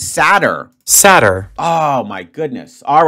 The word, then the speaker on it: seder: way the whole time Saturn no it's sadder oh my guys I hope you guys don't think I'm an idiot it's sadder sadder oh my goodness